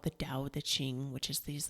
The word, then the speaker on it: Tao Te Ching: In our American eyes, we would say Tao, but it's Tao Te Ching. And I think it's Taoteching.